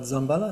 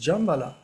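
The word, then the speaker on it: Jambhala: C'est pas Zambala, c'est Jambala.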